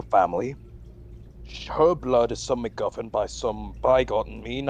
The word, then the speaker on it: McGuffin: delgar likes to say I said mcduffin McGuffin you're still saying it wrong anyways your blood most